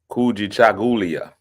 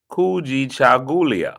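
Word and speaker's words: Kujichagulia: Kuji Chagulia. It means self-determination. We're gonna have to find a way. Somebody's gonna have to break that down phonetically. Kuji Jagulia. I said it right. Kuji Chagulia.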